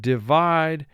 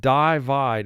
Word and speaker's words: divide: represent its long sound but the word is not divide it's divide i is representing its short sound in this word